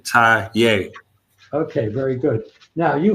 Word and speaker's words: Taye: Okay, it's Taye, like you tying your shoe. Taye.